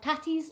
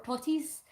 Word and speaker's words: tatties: No, I say tatty or totty. That's how you say it in Scotland. Potatoes is either tatties or totties. Ta-tees and to-tees.